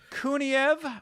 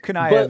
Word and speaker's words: Kuniev: I think Kuniev is or Kuniev is how you pronounce him at least.